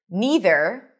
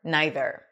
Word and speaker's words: neither: And the same thing with this word, neither or neither. Either, either, neither, neither.